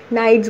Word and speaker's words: knights: जी एच टी एस, वो उसका जो के है ना, दैट इज़ साइलेंट. ठीक है, के को प्रोनाउंस नहीं करते तो उसको एन आई जी एच टी नाइट्स बोलते हैं.